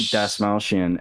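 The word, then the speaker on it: Dastmalchian: i was looking up how to say the actor's last name it's david dasmaushian and the video that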